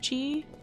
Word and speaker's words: qi: Yeah, well, it's even just like I'm pretty sure that the QI word in this game is pronounced chi.